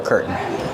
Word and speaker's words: curtain: Or you can use the stop T. Curtain. And then link to the N sound.